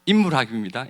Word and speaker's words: 인물학: 아주 성실한 작가이자 그리고 인물학, 제 발음을 제대로 한 것이길 바랍니다. 인물학입니다. 인문학이 아니라 인물학 전문가로 활동하고 있는 1기 연구원, 꿈버들기 홍승환 연구원의 발표가 이어지겠습니다.